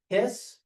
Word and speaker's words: His: I know it's spelled His, but it's pronounced His.